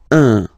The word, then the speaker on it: un: without any doubt, but you've got to pronounce it like un. So it's what we call the nasal, so it goes in your nose, okay? So if you listen to me, you don't hear any N, okay? So it's just a combination of the two.